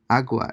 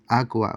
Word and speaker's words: agua: you are you well notice again that they're not pronouncing the g right it's very very subtle or it's highly being